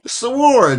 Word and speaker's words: sword: Sard. Yeah. Because you're so proper. You're trying to Well, I was trying to get that W in there somewhere, but it happens to be silent. It is silent.